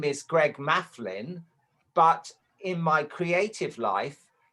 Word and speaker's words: Maflin: And I was like, Mafflin.